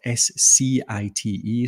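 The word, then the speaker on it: scite: clear out there uh it's spelled SCI te so we pun on citing your research uh but yeah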